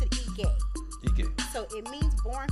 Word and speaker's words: Ige: it's from the EUR tribe and they actually pronounce it eay eay so it means born feet first and